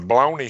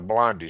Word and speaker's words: bologna: eat my lunch, and this is the only word that I had to say Philip mispronounced in the book. It was a bologna sandwich, and he called it a blondie sandwich, so I didn't say nothing about it.